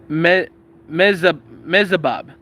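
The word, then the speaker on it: Mezahab: His wife was named, and his wife's name was Methabel, daughter of Matred, daughter of Mezabab.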